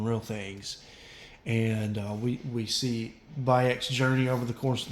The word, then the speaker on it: Bayek: If you don't know what I'm saying, it's pronounced Bayek, and it's spelled Bayek.